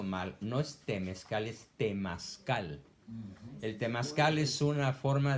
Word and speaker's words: temazcal: entonces me dijo que yo calificaba para ir a unas reuniones temezcales. Y yo le pregunté, ¿y qué son los temezcales? Ah, es que Entonces- estás pronunciando mal. No es temezcal, es temazcal.